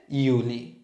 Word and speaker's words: Juli: তারপর এপ্রিল, মাই, জুন হচ্ছে ইউনি, আবার জুলাই হচ্ছে ইউলি, আগস্ট, সেপ্টেম্বর, অক্টোবরে কা, নভেম্বর, ডিসেম্বর, সেট।